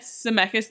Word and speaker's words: Zemeckis: Zemeckis.